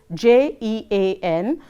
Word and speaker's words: Jean: So, we will have to learn that, and going ahead, the first one is Jean, which is pronounced as Jean.